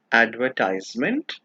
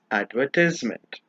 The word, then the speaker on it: advertisement: This word is pronounced as advertisement as well as advertisement.